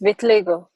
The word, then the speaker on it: vitiligo: Is that how I say it? Vitiligo? It's vitiligo. Okay, it's pronounced differently. Vitiligo.